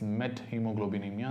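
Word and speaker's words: methemoglobinemia: going to talk is on the Met hemoglobin met hemoglobinemia that's the next thing we're going to talk about so when the moment you know about met I again told you don't pronounce as methods met hemoglobinemia met means changed hemoglobin so what is the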